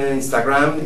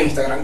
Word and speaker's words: Instagram: Igual estoy en Twitter, es @TonyBatres, y en Instagram, igual @TonyBatres. ¿Viste? Así se pronuncia Instagram. Ella se burla de mí, Alejandra, cuando digo Instagram, porque es Instagram.